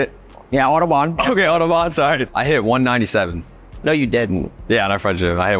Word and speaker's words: Autobahn: Yeah, Autobahn.